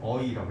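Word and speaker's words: ㅔ: 그 다음에 에는 어떻게 발음되냐면은 이거죠. 이거 어떻게 해야 되냐? 어이라고 해가지고요. 이거 EOI 해가지고 어이 이렇게 되는 겁니다. 알겠죠? 뭔지 알겠어요? 엄밀히 말하면 이렇게 어이, 알겠죠? 어이. 그러니까 이거는 I, 이거는 어이. 이렇게 발음돼요.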